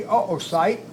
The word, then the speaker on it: oocyte: 00 SI y te we usually put the two dots over the second oh which signifies a separation in the vowels so that we know if we have 200 you would want to say oocyte right but by putting the two dots above the second oh we separate the vowel so oh like that